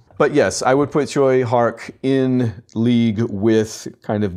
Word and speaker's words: Tsui Hark: thank you, Mitch, but I think I said Tsui Hark, and it's more like Choi Hark, or Choi Hark.